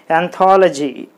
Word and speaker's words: anthology: So you put the stress mark on T-H-O, tha. Then it should be pronounced as anthology.